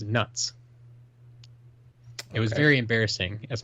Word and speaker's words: Knut: Dale reading these stories, I called them knuts while I was working. I was quickly corrected by my coworkers, and Sir, the animatronic goblin in charge of the money exchange, that they are pronounced as nuts.